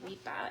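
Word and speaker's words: ripa: Um, reaper is spelled R I P A. Reapa, it's Latin for riverbank, shore, or the edge of a stream.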